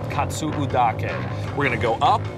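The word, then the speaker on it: Katsuudake: we're doing is we're gonna hike what's called Kotzebue dock and we're gonna go up and up and at the top we're gonna get an amazing view of the island great pronunciation very good katsu dock 8 stands just over 1,400 feet above sea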